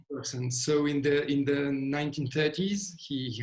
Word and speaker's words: Bergson: So I don't know how you would pronounce it in English. So the spelling is Bergson. Right, we would say Bergson, right? Bergson.